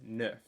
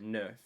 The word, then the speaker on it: neuf: So they have the EU. So just like de, you would pronounce it like, it sounds similar to nerf, except you're not pronouncing the R sound. It's neuf. Not nerf, but neuf. Neuf. Like try less R. Just go neuf.